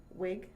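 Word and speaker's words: Whig: However, he ran again in 1834 and was successful as a member of the wig. So, but the H is silent.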